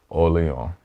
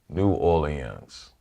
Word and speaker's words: New Orleans: If you think of the French rhythm, Orléans. Yeah. We have the French rhythm without the French sound. New Orleans. So that's the way to think of it.